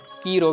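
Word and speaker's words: Chi Rho: یونانی حروف تہجی میں X کے برابر CH جس کا تلفظ کی ہے اور P کے برابر R جس کا تلفظ رو ہے، اور ان کا ملاپ کی رو کہلاتا ہے، جو کہ لفظ کراس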